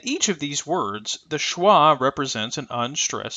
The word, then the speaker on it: schwa: here uh this IPA symbol is called the schah uh it represents the unstressed Sounds in this